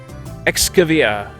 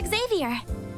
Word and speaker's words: Xavier: Excavia. Is that how you say it? We'll find out soon. She doesn't bother containing her surprise. Professor Xavier.